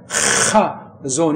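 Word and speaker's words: חזון: 그래서 그 뒤에 예샤야랑 묶어서 한 단어가 되기 때문에 이게 하존 이렇게 편안하게 발음해야 되잖아요.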